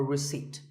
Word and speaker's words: receipt: in Word number 24 receipt the p is silent when you purchase something or you pay a bill you get a receipt now if you don't